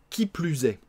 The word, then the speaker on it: qui plus est: On va bien faire la liaison avec le S. Hein. Qui plus est.